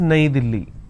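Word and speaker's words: नई दिल्ली: capital City in Hindi New Delhi is pronounced as naidili right in English the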